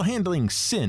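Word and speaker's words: Handlyng Synne: e at the end but it's still handling sin and not like hand lying sydney or siney or whatever the meaning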